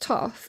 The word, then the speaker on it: Thoth: Thoth, pronounced Thoth, also known as Tahuti, is the ancient Egyptian ibis-headed god of writing, divine magic, and the moon.